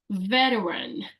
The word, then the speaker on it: veteran: the next word is veteran veteran so yes you have this tea over there in the word veteran but it pretty much you don't say much the T sound can you say veteran